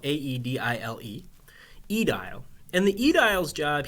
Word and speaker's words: aedile: job available to you is the job of aedile, which is spelled A-E-D-I-L-E, aedile.